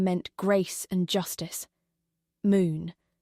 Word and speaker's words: Moon: Moon. It meant gate in Korean, pronounced closer to Moon.